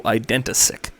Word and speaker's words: Identisic: And he wants to go by his MTGO username Identisic. Hopefully I'm not butchering that pronunciation. He says you pronounce it like identity, but sick instead of the TY. So Identisic.